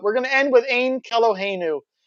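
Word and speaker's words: Ein Keloheinu: well-known jewish hymn uh orthodox jews pronounce it as ane when referring to it outside of prayer in order to avoid taking the name of god in vain or otherwise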